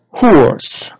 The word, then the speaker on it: horse: And the letter here, letter E, is silent. We don't say the letter E in this word. So again, h, or, s. What is the word? Excellent. Horse.